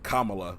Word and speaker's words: Kamala: Kamala I think what or Kamala I think is how you properly say her name Kamala Kam yeah but